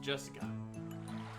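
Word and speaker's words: 朱志香: You see, that is pronounced Jessica.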